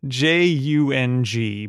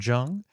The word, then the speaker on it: Jung: It is spelled Jung, but I ended up going to the nursery that they run, and an employee pronounced it Jung.